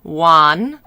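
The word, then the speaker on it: Wan: were getting even closer her name is spelled w-a-n juan a's in chinese are like father a fa like y u e but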